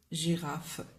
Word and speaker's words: girafe: Et devant E et I, par exemple, on dit une girafe. Donc, on écrit G, mais on prononce J.